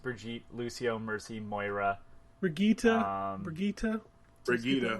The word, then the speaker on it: Brigitte: Brigida, right? yeah. My daughter, oh my god, my daughter found out how to pronounce her name and like yelled at us because we kept saying it wrong.